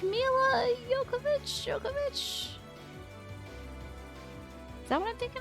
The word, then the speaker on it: Jovovich: It's pronounced Jovovich.